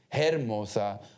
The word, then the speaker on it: hermosa: I remember porque para mí it was Historia, Hernández, Hermosa. I pronounced the H. When I tried the best I could, but nobody told me that the H era muda.